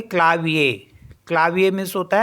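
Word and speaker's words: clavier: हैं ए सेकंड है सी एल ए वी आई ई आर तो यहां पर भी लास्ट में ई आर है इसको पढ़ेंगे ए तो इसको पढ़ेंगे क्लाविया क्लाविया मींस होता है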